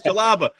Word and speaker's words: Jalapa: it's jaapa jar it's jalapa jar Ah that's what I said my wife said no it's jalapa all right so say one more time jalapa jar so jalapa jar think of the jalapeno although we we we